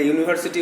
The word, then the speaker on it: university: কারণ তোমরা জানো যে উচ্চারণটা কোনো ভালো উচ্চারণ যদি ইউ বা ওয়া হয় তার আগে এ বসে, তাহলে এখানে ইউনিভার্সিটি উচ্চারণটা ইউ হচ্ছে, এজন্য এ হলো।